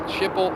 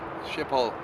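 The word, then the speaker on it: Schiphol: old Workhorse there and how do you spell it s c h IP that is ship and then h o l shiple and there we go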